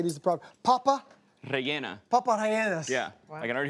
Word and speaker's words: Papa rellena: Papa rellenas.